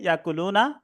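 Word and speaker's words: يأكلون: হ্যাঁ, তো দেখো এবার ইয়াকুলু সে খাচ্ছে বা খাবে, ইয়াকুলানে তারা দুজন খাচ্ছে বা খাবে, ইয়াকুলুনা তারা সকলে খাচ্ছে বা খাবে। এখানে ইয়াকুলুনা, এখানে একটু ঝাটকা হবে হামজার উচ্চারণ।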